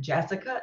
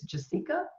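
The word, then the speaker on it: Jasika: I was calling it Jessica, and somebody recently told me it's Jessica.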